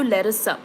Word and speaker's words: Larisa: ಸೊ for example ನನ್ನ ಹೆಸರು ಲೆರಿಸಾ, LARISA. Every word is pronounced. Okay, ಲೆರಿಸಾ.